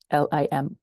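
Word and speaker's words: Limón: And the poem is from Ada Limon. Ada Limon. Limon, accent on the O.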